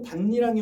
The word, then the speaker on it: 밭이랑: 그는 비를 흠뻑 맞으면서도 반니랑에 엎드려 김을 메고 있었다가 되겠죠. 자, 밭에 실질 형태소 이랑이 결합한 것이라고 보면 자, 니은 첨가가 적용된 후 비음화가 적용되어 반니랑으로 발음된 것이다.